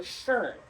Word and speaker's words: schön: If you don't know how to pronounce that, think of like an urn that you put ashes in. So schön.